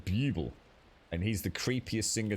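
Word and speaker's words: Bublé: a s right there called Michael bubble pronounced it Michael Buble and he's the creepiest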